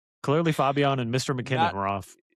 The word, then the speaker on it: Fabian: It's like Fabio with an N. I No, no, no. You said the Spanish pronunciation. Fabian.